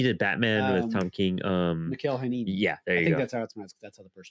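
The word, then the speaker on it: Mikel Janín: Mikhail Hanini. Yeah, there you I think go. that's how it's pronounced.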